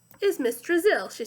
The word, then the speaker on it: Drizzle: Drizzle. Have you ever been to Brazil? Asked Eric Fry. No, explained Mrs. Drizzle. I was just a little joke. Brazil rhymes with drizzle.